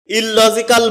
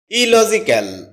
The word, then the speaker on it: illogical: এটাকে আমরা ইললজিক্যাল বলে থাকি, যার সঠিক উচ্চারণ হচ্ছে ইলজিক্যাল।